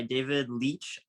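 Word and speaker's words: David Leitch: my list um it's a movie directed by David Leach I hope I didn't butcher yeah you pronounced it right uh and it's bullet train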